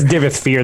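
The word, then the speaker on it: Divayth Fyr: In an essay analyzing the Daedric prince, Divith I never know how to pronounce these words. Divith Fear. That's how I think he pronounces his own name in game.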